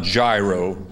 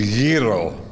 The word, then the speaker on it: gyro: served today for lunch it's not gyro it's a gyro you know ok woody